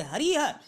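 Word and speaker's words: हरिः: जैसे हरि को शब्द जो लिखा हुआ है, आप इसे हरि नहीं बोलोगे, हरिह।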